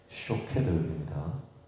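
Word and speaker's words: שֹׁקֵד: 내 말을 지켜 할 때 이 지키다가 쇼케드입니다. 그러니까 히브리어에는 자음만 있잖아요. 이 두 가지 단어가 자음이 똑같아요. 똑같고 이제 발음만 조금 다른 거죠. 그러니까 샤케드와 쇼케드, 살구나무는 샤케드, 지킨다라고 하는 것은 쇼케드.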